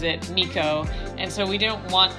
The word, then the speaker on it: Meiko: in the previous video but her name is Miko and it is spelled slash pronounced incorrectly it is a Japanese name but the way that we spell is MPI k-o which would normally be pronounced Mako but we have this artist that we listen